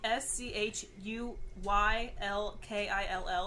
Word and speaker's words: Schuylkill: do not expect yeah so it's spelled s-c-h-u-y-l-k-i-l-l and it's about Schuylkill yes it is but